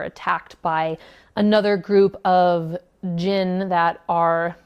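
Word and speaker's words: Djinn: It deals with Genie, or Jinn. I'm pretty sure the D is silent. D-J-I-N-N.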